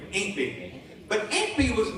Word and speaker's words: Aunt Bee: Aunt Bee is how they say it, Mayberry. Aunt Bee.